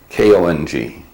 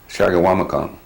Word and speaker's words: Chequamegon: And in a pronounceable way, it's Shagawamikong, Shagawamakon. And they were the first white men in this area.